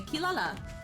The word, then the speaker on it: Kirara: will say kirata and some people will say kilala and you know like the dub for Inuyasha they went with kilala um because that's a lot easier and doesn't sound as Odd as cute uh them saying Kirara um so but then again you'll listen to the Japanese one and they'll say kirata and you kind of